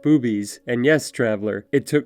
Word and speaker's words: Bube's: some incredible food and yes it is pronounced boobies and yes traveler it